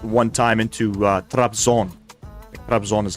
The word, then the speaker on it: Trabzon: Trabzon is how you pronounce it.